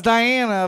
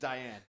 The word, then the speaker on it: Diane: I know it's Diana, but it's just Diane.